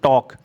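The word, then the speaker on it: talk: silent है next है टॉक टॉक में एल साइलेंट टॉक मीस होता है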